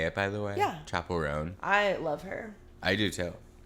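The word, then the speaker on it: Chappell Roan: Chapel Roan.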